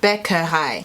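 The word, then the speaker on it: Bäckerei: english pronunciation okay so the last word is beccarei it kind of looks like bakery or baccarate and that means bakery let's see how google pronounces it becca hi and of course the reason why i learnt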